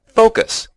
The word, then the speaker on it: focus: The word has two syllables, and the stress is on the first. That's right. We say focus. Focus. At least that's how we pronounce it in North America, with an O sound in the first syllable.